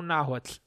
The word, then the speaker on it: Náhuatl: Bem, se vocês perceberam a forma como o Bruno pronunciou, faz de novo, Bruno. Náhuatl. Pra ficar mais fácil, a gente vai falar náhuatl, que fica mais fácil pra gente falando de português.